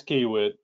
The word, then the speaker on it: Kiewit: I've been saying Kiewit without the U. Yeah, Kiewit. It's Kiewit.